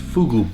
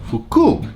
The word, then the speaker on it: fugu: S: In Japan it's pronounced Fugu, but, in Yamaguchi, it's pronounced Fuku because fuku is another word for happy.